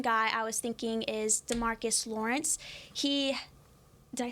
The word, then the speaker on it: DeMarcus Lawrence: or a main guy I was thinking is Demarcus Lawrence he did I say his name right yeah